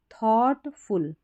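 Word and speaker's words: thoughtful: हो गया judgement a थॉटफुल थॉटफुल यहां पर जी एच साइलेंट है यानी समझदारी से सोचने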